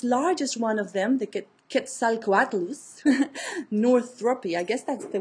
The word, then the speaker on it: Quetzalcoatlus: That is one of the Mexican gods, and I can pronounce that one from the language of the Aztecs, the Nahuatl.